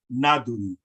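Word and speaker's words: naduy: So if I was to say the word for call in Nuwaubic, it's spelled N-A-D-U-Y. And that's pronounced nadui, nadui. So UI is always pronounced uy.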